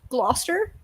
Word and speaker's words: Gloucester: New Jersey is called Gloucester so like it's also not hard like just that little bit in the middle you just have to know don't pronounce that bit it's like Lester Square it's not that hard